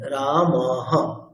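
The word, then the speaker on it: রামঃ: এই অংশটি লেখা আছে এখানে বিসর্গের উচ্চারণ হকারের মত হবে যেমন রামহ এখানে উচ্চারণটি হবে রামহ অর্থাৎ উচ্চারণের যেটি স্পেলিং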